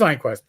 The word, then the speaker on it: ZineQuest: It is ZineQuest. I always want to say Zine because of magazine, and it's a real mental hiccup I can't get past. All right, magazines, ZineQuest.